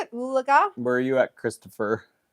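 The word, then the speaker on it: Oologah: Oolaga?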